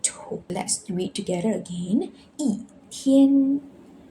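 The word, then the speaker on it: 一天: Before first, second, or third tones, we need to change E to fourth tone. So for example here, 一天，天 is first tone.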